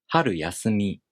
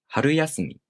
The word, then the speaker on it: 春休み: their original pitch accent patterns, it sounds like 春休み. But this is not how you pronounce the word. It should be pronounced 春休み.